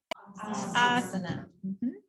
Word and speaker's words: asana: remember, but just some common ones you'll see mispronounced. So our first one is, how do we say it? Asana.